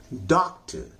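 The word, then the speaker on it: doctor: इसमें देखें आप, सबके अंत में R है और सबका जो R है वह साइलेंट हो गया है, या वह एकदम हल्का हो गया है, एकदम शांत हो गया है, इसलिए उसको हम पढ़ते ही नहीं है।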